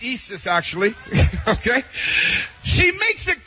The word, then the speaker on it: Isis: know about Francis huh in her book The Eis papers she makes it it's pronounced Isis actually okay she makes it clear in her